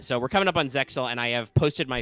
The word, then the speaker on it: Zexal: 5Ds era and are moving into the Zexal era. Or Zearu, as some would say, because in Japan the X is silent, I guess.